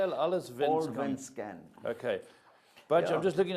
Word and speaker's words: Allsvenskan: Allsvenskan.